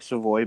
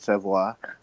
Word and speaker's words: Savoy: leather that yeah and it looks like Savoy but he actually pronounces it savoir he he made the